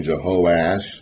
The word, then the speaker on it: Jehoash: So we call the northern king Jehoash with 3 syllables, and the southern king Joash with 2 syllables, but in the Hebrew, letters are the same.